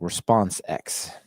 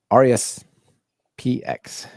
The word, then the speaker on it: RESPX: So I want to introduce people to RESPX, like response X, probably is the way you pronounce that. I'm not entirely, but it's HTTPX or response X. I don't know, whatever. RESPX.